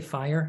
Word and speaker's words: fire: I'm like, no, we say fire in Northern Ireland. It's not one syllable. It's two.